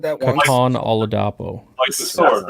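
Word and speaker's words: Kitan: 84 in coverage too his first name is pronounced Katon yep all right I said that Katon oladapo sword right that's what I love about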